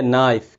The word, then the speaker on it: knife: तो जब भी के और एन साथ आ जाएं तो के की आवाज़ नहीं निकालेंगे।